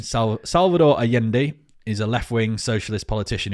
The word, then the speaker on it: Allende: it's spelled alende but it's pronounced Allende because he's Spanish South American Salvador Allende is a left-wing socialist